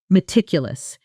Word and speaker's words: meticulous: Meticulous. And once more in a full sentence, feeling that stressed beat land exactly on tick.